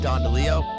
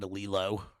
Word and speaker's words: DeLillo: Of course, tonight we're covering Cosmopolis by Delillo.